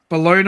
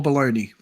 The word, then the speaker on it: bologna: Bologna or bologna is Devon. Well, that's both. That's bologna or bologna. That's how you pronounce both.